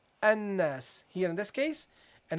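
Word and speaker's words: الناس: line, we start here, then you would say you would say annas. You say it's a hamza, but because this is in the middle of speech, so it is, you continue with reading, yeah, you continue with reading here, so that's why you have to drop this.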